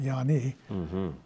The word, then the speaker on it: Ianni: Her family, the Ianni, I-A-N-N-I, which I later found they pronounce it Yanni, Sicilian.